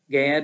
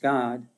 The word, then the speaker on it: Gad: the tribe of god gad or god it's actually pronounced god and the captains of